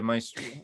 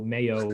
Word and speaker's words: Maestro: Yeah, Maestro. That's how you pronounce it.